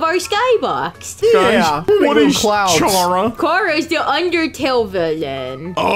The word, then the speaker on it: Chara: It's Chara.